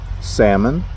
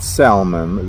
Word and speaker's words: salmon: Theater, iron, salmon, not salmon. The L is silent, y'all.